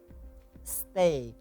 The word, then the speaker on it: steak: So what you aim for, getting the meaning of makanan ringan is that in English you should say steak. Steak. Yes, right. It's glide Oh, vowel. it's not stick.